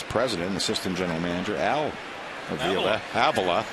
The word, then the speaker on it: Avila: Of course, he is the son of the Tigers vice president, assistant general manager Al Avila. His son pronounces his name Avila.